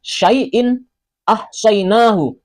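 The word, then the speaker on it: شيء أحصيناه: Tulisannya syaiin ahsyainahu, syaiin ahsyainahu. Cara membacanya juga jelas sama seperti tulisannya. Syaiin ahsyainahu, syaiin ahsyainahu. In a, in a.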